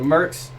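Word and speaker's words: Murks: but it's also like pronounced like merc like the short term for mercenaries it's it's creative okay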